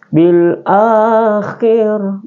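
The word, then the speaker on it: بِالْآخِرَةِ: Jadi ketika ada huruf seperti ini, maka dia juga dibaca 1 alif atau 2 harakat ya. Bil akhirah ya. Jadi tidak boleh bil ya. Biasa bil akhirah.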